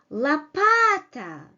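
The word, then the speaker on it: лопата: in three syllables here La Pata only stressed vowel comes with its full quality while all other vowels and stressed vowels comes in a reduced quality Panama Panama right so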